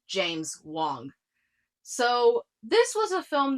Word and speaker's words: James Wong: No, not James Juan. Not the guy that directed Saw or The Conjuring or Dead Silence. It's pronounced James Wong.